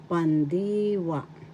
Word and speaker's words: pandiwa: now the verb is pandiwa in tagalog pandiwa first syllable pan second syllable d third syllable wa The accent is in the second syllable pandiwa.